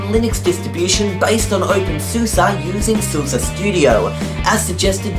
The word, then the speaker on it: SUSE: really hard I had to look at I pronounce it Seuss that's what I would say Seuss but I